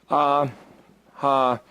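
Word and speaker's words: אהבה: Aleph, Hey, Bet, Hey. Ahava. Pronounced. Ah-ha-va.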